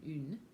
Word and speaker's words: une: Une, like un and une. So une, and you pucker right up when you say une.